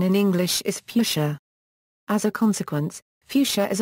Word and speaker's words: Fuchsia: original pronunciation from the word's German origin is fuk the standard pronunciation in English is fuchia as a consequence fuchsia is often misspelled as